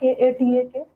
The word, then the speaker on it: Cuttack: That is, we often pronounce the name Cuttack, but the actual name that where it came from was Cuttack, Katak, which means a military camp or army base.